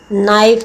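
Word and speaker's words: knife: भी के साइलेंट है नाइफ में भी के साइलेंट है रंग इसका डब्लू साइलेंट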